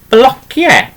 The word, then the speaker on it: blociau: and things would be blociau. Okay, so now te. Yeah. And you can say it as blociau or blociau. It doesn't matter, whichever pronunciation you want to use there, okay?